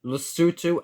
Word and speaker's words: Lesotho: They are pronounced Burundi, Lesotho, and Malawi.